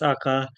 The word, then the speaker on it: Akka: Uh, it's actually pronounced Akka, to be honest.